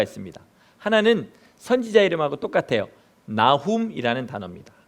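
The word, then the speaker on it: Nahum: 단어는 두 단어가 있습니다 하나는 선지자 이름하고 똑같아요 나훔 이라는 단어입니다 나 홈 우리 졸린데 한번 같이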